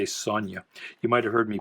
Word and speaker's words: Sonja: Now, is that the first Red Sonja? I don't think it is. I pronounced that Sonja as a kid. I didn't know the J was silent or pronounced kind of like a Y.